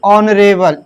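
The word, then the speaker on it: honourable: और इसी तरह हम लिख सकते हैं ऑनरेबल एच ओ एन ओ यू आर ए वी एल ई तो यहां पर भी हमारा एन ही आएगा। ऑनरेबल तो यहां पे एस साइलेंट है।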